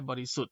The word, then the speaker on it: บริสุทธิ์: นั้น ด้วย นะ ครับ จาก คำ ตัว อย่าง บริสุทธิ์ นะ ครับ เห็น ไหม บริสุทธิ์ เนี่ย เพราะ ธง กับ สระ อิ แล้ว ก็ ทันตฆาต จะ นั้น สถิต ที่ ทำ กับ ไว้ คือ สระ อิ คำ นี้ ก็ อักษร ตัว นี้ ก็ จะ ไม่ ออก เสียง นะ ครับ ก็ จะ เอา เสีย แค่ บริสุทธิ์ นะ ครับ โดย มี ตัว